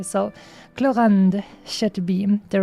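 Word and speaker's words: Clorinde: her name like that as that is apparently pronounced in France since I don't know there's like a bunch of different regions of French speaking people but uh obviously since I live in Europe and they're my neighbors I want to pronounce it in the proper French way so cland should be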